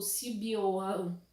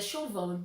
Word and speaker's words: Siobhan: Se vocês já viram como se escreve o nome dela, é tipo Sibiohan, Sibiohan, se a gente fosse falar assim do jeito que a gente lê normalmente, né? Mas é Chauvin, então as pessoas e seus nomes, né?